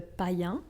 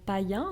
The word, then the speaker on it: païen: Mais déjà avant ça, plusieurs peuples païens célébraient la fin du mois de décembre.